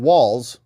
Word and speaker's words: Walz: didn't they brought out Tim Walls rhymes with balls and he is not